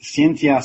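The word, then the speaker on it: Scientia: the Santa salon org Cynthia is spelled as c e let me get it right it's scie n TI a it's similar to science is that is the latin word for knowledge and the center salon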